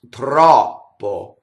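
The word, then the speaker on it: troppo: And here's a good demonstration of non-phonetic O, that O makes two different sounds in Italian, and it's not written out, right? So the open O sound is done with the IPA symbol, the broken circle, and the closed O sound is done with just the normal O that we see, all right, in a normal typeset, in a normal font. So the open O is like AW, aw, right? The closed O is like O in oats.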